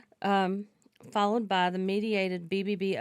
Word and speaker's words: aducanumab: aducanumab.